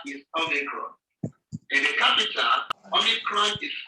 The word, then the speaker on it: Omicron: The name of this letter is Omicron. In the capital, Omicron is written as capital letter O of the English alphabet, and it is also pronounced as O, as in omelette.